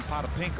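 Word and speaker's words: Potapenko: Well, he used to pronounce his name Potapinko. Yes, he did. I could pronounce that, and then he changed it.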